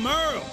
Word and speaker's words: Merle: I'm Merle, spelled like Hurl.